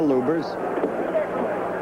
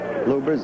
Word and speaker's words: Lubbers: Indonesia Mohammad Ali against Rudy LS or lubers it's pronounced both ways luers is probably more technically correct anyway it's the way Rudy wants it said see how